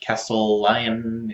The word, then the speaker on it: Castellion: Well, today I'm here to bring you another game in the Oni-verse line, Castellion, or Castellion. It's spelled a little awkwardly, and it sounds actually